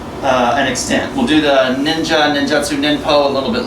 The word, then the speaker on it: ninja: a person of stealth that we pronounce ninsha as ninja what you see musha